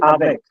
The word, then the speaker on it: avec: Je joue avec mon ami. Okay. Sir, Next one. with pronunciation, please explain It again. will be avec.